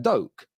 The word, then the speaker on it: Doak: It would be Doak, wouldn't it? Oak with a D, Doak.